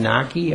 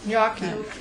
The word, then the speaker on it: gnocchi: They have the pierogies and, was it Italian gnocchi? Am I saying it right? Gnocchi.